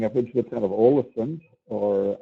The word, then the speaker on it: Ålesund: And also going north from Bergen, we're going to be going up into the town of Ålesund, or Allison, as some people prefer to pronounce it.